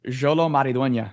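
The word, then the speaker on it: Xolo Maridueña: Jolo Maridueña.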